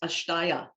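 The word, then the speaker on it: अस्तेय: philosophy there is a sanskrit term it is pronounced ashtaya and it means to be non so think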